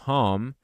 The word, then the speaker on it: home: can home esse M perceba que home esse e do final não é pronunciado esse de home vai jar a próxima